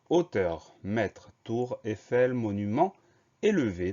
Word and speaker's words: hauteur: Alors, on a un H muet au début du mot. Le son O de hauteur s'écrit AU. Le son E de hauteur s'écrit EU. Donc, pas de difficulté particulière, mis à part ce H muet et ce son O qui s'écrit AU.